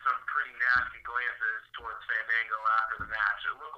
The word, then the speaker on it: Fandango: pretty nasty glances towards Fandango after the match. It looked like they had a couple issues with each other. First of all, say it right. It's Fandango. Fandango.